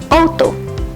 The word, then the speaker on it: auto: Selain vokal pendek dan panjang, ada juga beberapa bunyi vokal lainnya yang perlu Anda kuasai, yaitu AU dibaca O. Contohnya, auto.